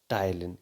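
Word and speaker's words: ptyalin: और उस एंजाइम का नाम क्या है, एंजाइम का नाम है टाइलिन। इसमें पी साइलेंट रहता है।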